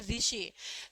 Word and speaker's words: ऋषि: For example, जैसे कि हम लिखते तो ऐसे हैं ऋषि ऋषि, लेकिन बोलते कैसे हैं, बोलने में उच्चारण की दृष्टि से हम यूज करते हैं ऋषि।